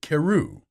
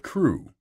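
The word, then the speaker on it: Crewe: difference in the name madame pascal pronounced it keru instead of crew but that might be merely a matter of pronunciation the circumstances were curiously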